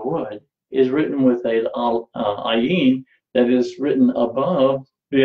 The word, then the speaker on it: ayin: ayin, and they said, the ayin is a silent letter, and the aleph is the silent letter. There's only two silent letters that are in the Hebrew alphabet, is the aleph and the ayin. They only make a sound when there is a vowel connected to them.